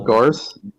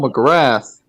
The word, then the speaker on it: McGrath: McGarth? Is that how you pronounce his name? Oh, Cole McGrath.